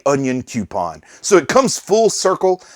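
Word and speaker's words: Onyankopon: i struggled to pronounce onyon kapon's name the first time i saw it and it was people in the comments that said the easy way to do it is to say onion coupon so it comes full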